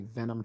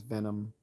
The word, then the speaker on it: Venum: So if you ever seen like the Cobra and it says Venom and it's spelled VENUM, that's Venom training camp.